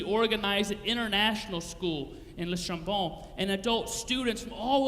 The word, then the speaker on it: Le Chambon: Andre and Magda lived in the tiny French village of Le Chambon. I don't speak French, so that's my best French pronunciation. Normally I would say Le Chambon, but my wife, who speaks French, would yell at me.